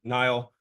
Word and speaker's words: Niall: who am I I'm Nile if you forget how to pronounce my name it's the same as the river just spelled differently uh and I originally